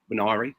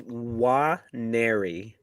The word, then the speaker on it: Nwaneri: Nwari, sorry. It's Nwaneri.